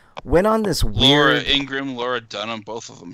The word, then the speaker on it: Ingraham: I said Ingraham. I misspoke. Her name is Laura Ingram.